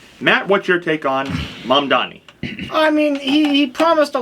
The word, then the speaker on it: Mamdani: Mamdani, yeah. Yeah, Mamdani.